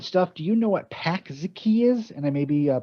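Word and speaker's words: Pączki: It's Pakzki.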